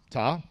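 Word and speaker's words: Ptah: composite which he is the only one ta pronounced ta what I don't even know why I'm gonna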